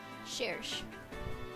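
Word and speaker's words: Cherche: Her name seems to be derived from French, and the CH sound is pronounced like an SH in this case.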